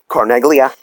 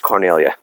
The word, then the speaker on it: Carneglia: And in Italian, the G is silent. It gets rolled. So my entire life, I've told people, they're like, Carneglia. I'm like, it's Carnelia. It's Carnelia.